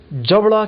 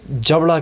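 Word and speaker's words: jaw: इसे जबड़ा कहते हैं। उर्दू में इसे जबड़ा कहते हैं। इंग्लिश में जॉ, डब्ल्यू इधर साइलेंट है, यानी कि जॉ।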